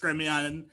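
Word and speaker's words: Gremillion: or g-r-e-m-i-l-l-i-o-n uh so my last name is spelled like vermillion pronounced gremion i was cursed with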